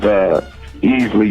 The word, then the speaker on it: Easley: My name is Easley. You spell it E-A-S-L-E-Y.